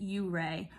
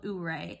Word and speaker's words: Ouray: I know a lot of locals pronounce it Ouray, but I call it Ouray, and it is known for ice climbing in winter.